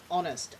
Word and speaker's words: honest: Still have a few silent H words. Honest, our, and in American English, herb. The poor people would just not pronounce any H at the start of words.